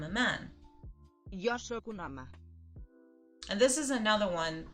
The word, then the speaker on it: home: It's not hombre like in Spanish, but it's I hear an A in there.